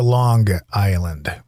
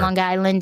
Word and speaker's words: Long Island: Did you say Long Island or Long Island? Long Island. You say with the hard G at the end.